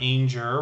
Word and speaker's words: Anger: this channel was actually jennifer anger rhymes with danger and um she recently